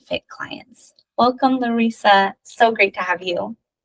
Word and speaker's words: Larisa: Miss Larisa, like Teresa. Larisa.